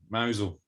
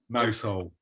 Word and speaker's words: Mousehole: but um but yeah mousel mousel they call it mousel that's how they say it you're in mountain now mousehole i could eat i